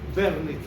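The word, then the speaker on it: Wernicke: verneque importante wque wque se escribe pero en alemán se se dice vernique bueno así es entonces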